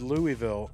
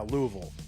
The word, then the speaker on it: Louisville: I thought it was how you abbreviated Louisville. The way Kuckians say it, they say it. Yeah. Louisville. Louisville. Louisville.